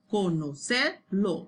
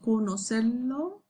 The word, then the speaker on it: conocerlo: So you can say co, no, ser, or ser, lo, conocer, lo. You can say co, no, ser, lo. So try to break this word down, pronounce it conocerlo, and then conocerlo, conocerlo, conocerlo.